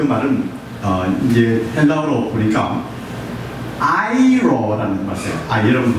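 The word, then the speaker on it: αἴρω: 즉 다시 말씀드려서 이 옮겨갔다는 그 말은 이제 헬라어로 보니까 아이로라는 말이에요. 여러분 발음해 보세요. 아이로.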